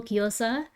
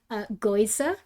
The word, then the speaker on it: gyoza: it like genuinely, where he'd call gyoza goiza, and I'd scream and I'd be like, "That's not how you say it. Say it properly."